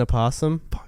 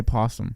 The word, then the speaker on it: opossum: call this animal an opossum why I was saying it wrong my whole life have you been saying it just drop the O A lot of Americans say possum yeah a lot of